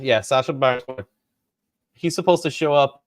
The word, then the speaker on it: Sacha Baron Cohen: do have him with Sacha Cohen Baron. Is that how you say his name? Sacha Baron Cohen. Yeah, Sacha Baron Cohen.